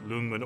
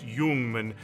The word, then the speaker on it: Ljungman: favorite military surplus rifle ever it's the Swedish Jungman or sometimes as Americans say we say the élysée doom and so you'll hear people say both Luman or human but in the Swedish I've heard it pronounced human and this is a really cool gun that